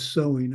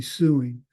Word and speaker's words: sewing: So, yeah, sewing, SEW is why we pronounce that as sewing. I have no idea. It should be suing, but that's another story.